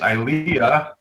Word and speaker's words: Ilia: um you mis pronoun you kept mispronouncing pronouncing things which made me crazy it's IAH okay other than that